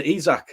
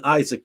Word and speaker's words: Isak: we've brought in um alexander izak i keep saying isaac but i'm going to have